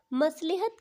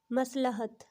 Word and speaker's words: مصلحت: وہ لکھا ہے مصلحت۔ تو میں نے بہت سارے لوگوں کو مصلحت کہتے ہوئے سنا ہے، جو کہ اس لفظ کی غلط ادائیگی ہے۔ اس کی درست ادائیگی ہے مصلحت، لام کے اوپر زبر۔ تو دوستو امید کرتی